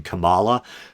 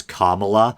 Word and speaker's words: Kamala: of self-conscious here because i keep saying kamala but um people are now saying the proper pronunciation is kamala and this is going